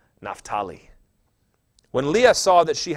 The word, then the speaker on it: Naphtali: I grew up saying Naphtali, but it is Naphtali if you want to do it right.